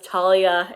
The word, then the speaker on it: Thalia: By the way, Thalia, like the pronunciation is just killing me because like I do mythology now and so everyone says Talia in classics.